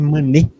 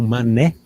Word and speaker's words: Manet: que vai focar em manê ou mané que seria pronúncia mais correta depois a Rafaela nos